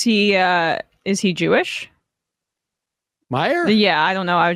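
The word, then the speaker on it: Meijer: a loser a loser the i j e r but they pronounce it meyer the hell kind of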